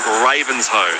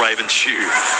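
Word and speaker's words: Ravenshoe: in final plans and Ravens Ho, not Raven shoe. Ravens don't wear shoes, so I can imagine that would be a Thank you, Peter who says, "Great call."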